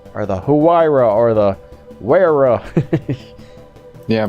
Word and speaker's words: Huayra: or the werewolf yeah pronounce like the first couple of uh characters because i think that's the way it's supposed to do why isn't germany with her that way why raw it's like always